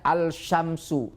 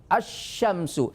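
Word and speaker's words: الشمس: tidak boleh dibaca alzujajah tidak boleh baca alsyamsu tidak Tapi bacanya asyamsu itulah 14 huruf th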